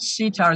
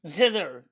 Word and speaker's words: zither: Not sitar, zither. Zither.